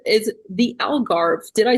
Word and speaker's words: Algarve: So if you saying it in English is alv, but if you say in Portuguese is agar.